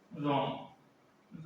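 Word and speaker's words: wrong: डब्ल्यू देखो, डब्ल्यू और आर, देखो डब्ल्यू और आर इकट्ठे हों, डब्ल्यू और आर इकट्ठे हों और पहले डब्ल्यू हो तो डब्ल्यू साइलेंट रहता है।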